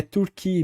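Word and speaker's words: Türkiye: com peru por exemplo O Andre disz que a pronúncia É turqu mesmo né como parece em português é então sua mais como o a a língua Nativa né como turco mesmo enfim e eles determinaram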